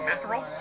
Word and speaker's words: Mithril: So I'm afraid to pronounce it. It's okay, Mithril.